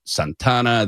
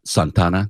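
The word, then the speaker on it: Santa Ana: like you said downtown Santana. They have that's how you say it. Uh Santana, they don't they just mush it together. It's like San Berdo.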